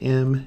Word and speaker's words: mu: make a little U this is me it's pronounced mu U it's a little Greek symbol mu and